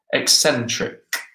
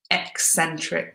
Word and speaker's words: eccentric: got the Gunderson's yeah eccentric and that's a tricky pronunciation they're eccentric yeah you got it there are three C's with all kind of slightly different pronunciations eccentric yeah that's great good